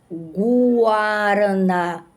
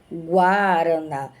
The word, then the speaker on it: guaraná: Guaraná. Parece que eu vou escrever com Guaraná. Guaraná. Aqui está a pronúncia da letra U.